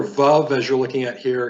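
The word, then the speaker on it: וָו: As the placard reads, Vav is pronounced like the V as in vow, or the word van in English.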